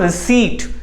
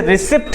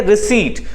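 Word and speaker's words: receipt: ठीक है, रसीद को हम कहते हैं दोस्तों रिसीट। क्या कहेंगे? रिसीट। बहुत सारे बच्चे इसे रिसिप्ट कहते हैं जबकि पी साइलेंट होता है, तो इसे हम कहेंगे रिसीट।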